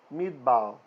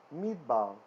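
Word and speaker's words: מִדְבָּר: schwa is silent okay so for example midbao which means a an area where there's not humans living right so this can be a desert or it can just be like a barren land the wilderness sometimes the torah will say so meet bau so here we have a short vowel and a schwa so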